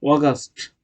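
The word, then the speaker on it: August: আমরা কি বলতাম? আগস্ট, আগস্ট, অগাস্ট। উচ্চারণ কি? অগাস্ট, অগাস্ট, অগাস্ট, অগাস্ট, অগাস্ট, অগাস্ট।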